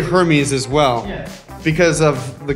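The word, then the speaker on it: Hermès: and they didn't say, they don't pronounce the H. Yeah. So it's R. They start with the R. Hermes, we say it in English, but in French it's Hermes. Yeah.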